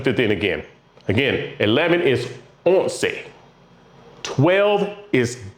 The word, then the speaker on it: once: What do you hear there at the end? They all end in say. And most of them have minus 1, most of them have 2 syllables.